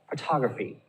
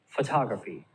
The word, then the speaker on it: photography: the last syllable professor and the last example photography photography all right so the tall is the loudest syllable you can barely hear the but that's really quick not as loud consult a little bit